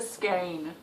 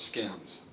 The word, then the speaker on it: skein: What is a skein? Ah, okay. Skeins are... I actually mispronounced it. I thought it was skins.